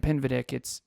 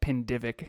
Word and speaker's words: Pinvidic: And for those of you who don't know Brant Pinvidic, Kevin pronounced it Brant Pindivic right out of the gate on that interview.